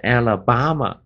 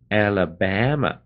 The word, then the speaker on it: Alabama: 念 a, 如果你念 Alabama 巴的话，那就是不对，不是 b-a-ba, 是 b-a-ba, Alabama 这么念的。